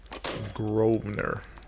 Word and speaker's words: Grosvenor: Grosvenor. The S is silent.